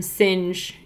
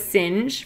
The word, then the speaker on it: Singe: That's how we learned how to say William Singe. And, you know, because we were saying Sing in the beginning. Yeah. And then Sinjay. Yeah. So that's how we learned it was Singe, from you guys running it out phonetically.